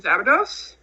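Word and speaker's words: Szabados: And then my other one I will say is Shannon Zabados.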